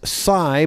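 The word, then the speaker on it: Tsai: Sai and it's pronounced Sai it's actually spelled TS AI it's Sai but with a little bit of Zed in front of it did I get that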